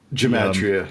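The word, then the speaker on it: gematria: aspect of oultism like um the is it pronounced gamatria? Geatria.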